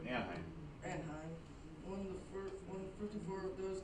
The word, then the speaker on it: Anaheim: Anaheim, is that how you ever say it? Yep, Anaheim.